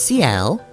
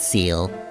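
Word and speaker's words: Ciel: And, yep, this is CL, whose name I'm actually going to pronounce correctly this time around. Unlike the original LP, where I pronounced it Seal. But no, that is, French for sky.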